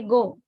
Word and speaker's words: go: People usually say go. I want to go there, like that, right? So this need to be pronounced as go.